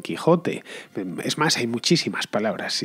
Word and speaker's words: Quixote: como ese h pero si por ejemplo leemos don quixote don quixote y realmente tenemos que leer don quijote es más hay muchísimas